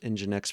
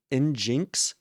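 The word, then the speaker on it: nginx: and I'll be honest, I didn't even know it was pronounced EngineX for the longest time. It's like one of those words that if you've just never heard somebody else pronounce it, like of I think it was like Injinx. I think it was in I thought it was in Jinx for the longest time, which obviously engine X sounds way cooler.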